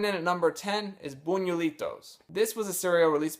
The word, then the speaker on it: Buñuelitos: You can find a commercial for this stuff on YouTube where they show you how to pronounce it, Buñuelitos.